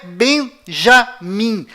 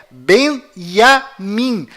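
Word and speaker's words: בנימין: é tchau além disso não é bem já mim a pronúncia correta é benjamin pois lembre-se até hoje não existe em hebraico nenhuma letra com som dj confira é bem a mim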